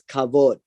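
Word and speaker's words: כָּבוֹד: just for interest sake the word glory glory is pronounced as kavod glory would be very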